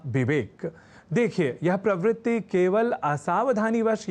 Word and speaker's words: विवेक: जैसे कहना और लिखना हो विवेक, तो लोग कह जाया करते हैं विवेक या विवेक।